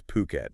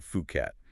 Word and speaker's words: Phuket: right off the bat it's puket not fukat just so we're all